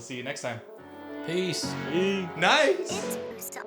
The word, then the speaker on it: Nais: Nice. Again, on Instagram it's @nice brand. I'll add it here. Again, it's spelled NAIS.